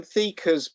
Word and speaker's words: Theaker: Alison Thieker's book on public relations. So Thieker is spelled Theaker.